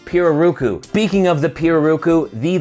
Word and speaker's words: pirarucu: spoke with blackjack and they corrected me on my pronunciation for this leather they pronounce it piroruku speaking of the piroku